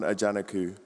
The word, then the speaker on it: Ajanaku: Ajanaku. Thank you. Thank you for the pronunciation correction.